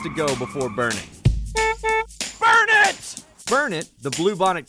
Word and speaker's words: Burnet: somewhere around 5,000 people it's pronounced burn it and if you can't remember the locals would be happy to remind you it's burn it D it can't you